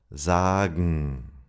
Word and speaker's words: sagen: And gen sounds like gn, morgen, sagen.